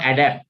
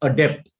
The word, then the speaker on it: adept: is a capability adeptness adeptness is how we pronounce it it's not adapt it's adept at deafness or death